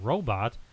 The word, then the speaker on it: robot: 1930s to early 1940s, the second syllable was pronounced with a long O, like rowboat. Rowboat. By the late 1950s to early 1960s, some were pronouncing it with a short U, like robot. Hmm. While others use a softer O, like robot. By the 1970s, its current pronunciation, robot, had become predominant.